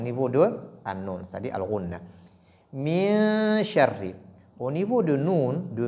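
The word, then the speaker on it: مِن شَرِّ: Donc, il ne faudrait pas faire apparaître la lettre nun. Donc, la prononciation de nun ne doit pas apparaître. Ne dites pas min, mais plutôt min sharri, parce que c'est ikhfa.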